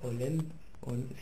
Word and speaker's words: Hollande: Hollande. Sí, Pues Hollande se escribe con H.